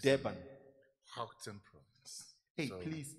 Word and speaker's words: Gauteng: Gauteng province. Hey, so please pronounce it again. Gauteng province.